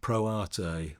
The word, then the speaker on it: Pro Arte: It's spelt Pro Arte, and it comes from the Latin. Many people pronounce it Pro Art, especially in Yorkshire. They say Pro Art.